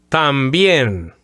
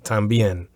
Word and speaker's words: también: So also and to, T-O-O, they both mean también. And as far as the pronunciation goes, también has two syllables.